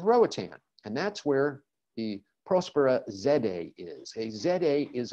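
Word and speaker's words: Próspera: mispronounced it there it's prospero the accent is at the first syllable prospero my spanish speaking friends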